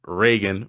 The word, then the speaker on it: Reagan: I not Rean Reagan. My bad. There you go. You got it. Cuz the way your name is spelled I'm just like yeah Rean.